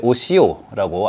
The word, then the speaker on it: OCO: 여기에 세 번째 오시오라고 알파벳으로만 이루어진 문자가 있습니다. 오시오라고 하는데이 알파벳 약자입니다. 어려울 건 하나도 없고요. OCO라고 읽고요.